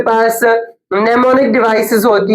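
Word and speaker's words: mnemonic: करना वो आसानी से याद हो जाती है निमोनिक की स्पेलिंग ये है एम एन ई एम ओ एन आई सी निमोनिक device okay the symbol of hydrogen is h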